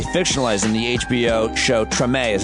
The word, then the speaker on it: Treme: life was actually fictionalized in the hbo show treme is how you pronounce it i never watched that show but